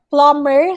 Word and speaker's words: plumber: it's confirm all right and then plumber silent b and then rampaging all